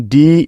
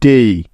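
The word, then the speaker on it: day: যেহেতু তার আগে একটি ভাওয়েল আছে, তাই সুতরাং ডি এ ওয়াই মিলে হয়ে যাবে ডেই। ডেই শব্দটি কিন্তু ডে হবে না, সঠিক উচ্চারণটি হবে ডেই।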